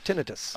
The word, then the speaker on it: tinnitus: Ted, talking about something called tinnitus. Yep, tinnitus.